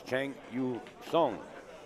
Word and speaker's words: Cheng Yu Hsuan: here there it is Chang you song is the way it's pronounced as far as the